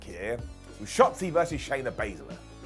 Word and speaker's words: Baszler: well off track here with shotsi versus Shayna basala said it right that time now this did